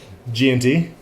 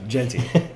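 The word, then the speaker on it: Jeanty: G&T. No, Genti.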